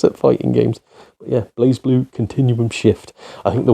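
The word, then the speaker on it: BlazBlue: that one wrong uh this is called blaze blue not blaz blue but blaze blue blue Continuum Shift um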